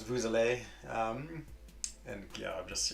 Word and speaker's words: vous: you have the s usually you don't pronounce the yes and vu it's just a vu but with uh a vowel it's vous um and yeah i'm